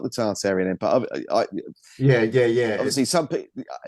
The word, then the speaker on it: Tartaria: Tartaria is a strange one because it's a lot of people say it's pronounced Tartaria, but in England, for whatever reason, we use the R. We're pronouncing the R, and I can't stop using the R.